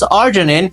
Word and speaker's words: arginine: Whenever you pronounce arginine, it sounds like R, so we use R as an abbreviation form for arginine.